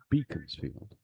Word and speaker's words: Beaconsfield: constituency in these parts, insisted it should be pronounced Beaconsfield, and you can see his point.